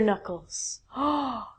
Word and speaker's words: knuckle: Some people like me crack their knuckles. Some people really hate that. Yay. Worked. So the part on your your hand here are called your knuckles, not your knuckles.